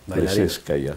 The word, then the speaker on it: Plisetskaya: Y la nena, el origen de eso, la elección fue de Rosario por Maya Plisetskaya, que esa es la verdadera pronunciación del apellido de la rusa Plisetskaya.